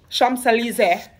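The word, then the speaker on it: Champs-Élysées: at in new york rockefeller center right or champs-elysees okay gotta say it like that and petty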